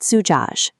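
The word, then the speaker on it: زجاج: Tracing from right to left, we start with za with a Damma vowel, making the short sound zu. Za is a one-way letter, so it forces a break. The next letter, jim with a fatha, makes a ja sound.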